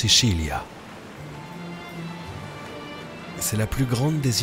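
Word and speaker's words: Sicilia: sur l'île de Sicile en italien on prononce siilia c'est la plus grande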